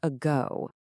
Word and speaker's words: ago: Let's start with the word ago. Now, the stress is on go, right? That means the first letter a is unstressed. So, it turns into awah. Listen again. A go. That first little sound is thewah. A go.